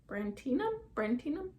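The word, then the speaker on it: brandtianum: And then there's another philodendron that I do want, and it's called a philodendron brantinum? Brandtinum. That's how you say it.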